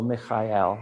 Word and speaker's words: Michael: To me, um, my primary angel is Archangel Michael or Archangel Mael. That's how they say it.